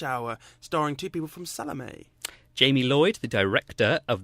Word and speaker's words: Salome: now I got the pronunciation wrong of this earlier. Salome, are we on now? Salome, that's right.